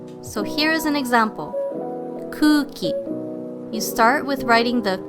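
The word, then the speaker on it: くうき: When pronouncing these repeating vowels, you simply drag the vowel sound. So this would be kuki, not cookie.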